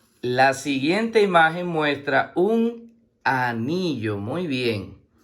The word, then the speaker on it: anillo: La palabra anillo se escribe con A, que como está sola se pronuncia a sí mismo A. La N con la I suena ni y la doble L con la O suena yo.